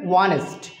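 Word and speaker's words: honest: এখানে তো আমাদের অনেস্ট বলতে হইতো কিন্তু হচ্ছে প্রোনাউন্সিয়েশন হবে অনেস্ট তাহলে এইচ কিন্তু তার যে প্রপার যে উচ্চারণ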